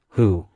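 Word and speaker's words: 虎: Folklore suggests that tiger head shoes could ward off evil and bring good fortune, because the pronunciation of tiger, hu, is similar to blessing, fu, in Chinese.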